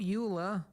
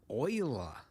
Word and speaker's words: Euler: Not Euler, Euler.